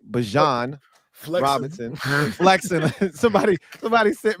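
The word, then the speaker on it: Bijan: Bjan Robinson flexing.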